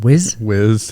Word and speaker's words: Wiz: Wiz?